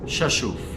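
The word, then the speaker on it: Rzeszów: in your head now it's actually pronounced chashuf is how you pronounce that airport so sheshu airport uh we landed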